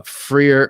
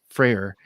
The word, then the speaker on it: Freyr: viking axe crkt uh freer a frere and braz how do you pronounce that that's freyr and berserker are amazing hate